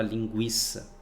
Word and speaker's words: linguiça: Não, porque desde quando a criança começa a falar, a se comunicar, ela já desde criança ela já ouviu a palavra linguiça, com o U sendo pronunciado.